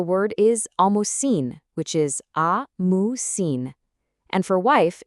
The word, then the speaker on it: ամուսին: Well, for husband, the word is ամուսին, which is ամուսին. And for wife, it's super simple, just keen, pronounced kin.